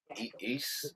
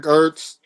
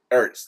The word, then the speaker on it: Ertz: Zach East? I never know how to pronounce his last name, but tight end that used to play with the Eagles. He's a free Oh, agent. Zach Ertz. Ertz.